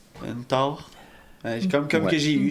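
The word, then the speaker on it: taure: vachette au Québec on appelle ça aussi une tort une tort. Comme comme que j'ai eu j'ai eu tard mais ça s'écrit comment une t une t t a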